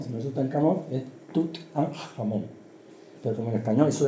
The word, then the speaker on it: Tutankamón: Sabéis que cuando se retiran las máscaras de la tumba de Tutankamón, que por cierto no se dice Tutankamón, si no es Tutankamón, es Tut-an-Jamón.